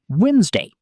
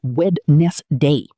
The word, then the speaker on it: Wednesday: Wednesday. A lot of people say Wed-nes-day, but native speakers usually say Wednesday. The D in the middle just disappears.